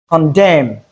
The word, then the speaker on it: condemn: add to the list moreover in place of MN that is with silent letter N we don't have the M sound what we have in place of MN is the M sound in words like him condemn solemn.